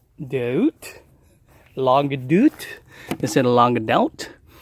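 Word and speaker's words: Longue d'Août: here nothing on the lung this is my log doot as somebody corrected me it's pronounced dude log dude is it along it out this is a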